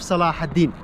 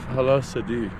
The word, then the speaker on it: Salahaddin: That mountain, that town, call it Masif Salah ad-Din. Masif Salah ad-Din. Oh wow, Masif Halasadi.